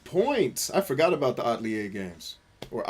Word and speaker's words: Atelier: I forgot about the Atelier games. Or Atelier, I think you pronounce it with a D, not a T. Because it's French, right?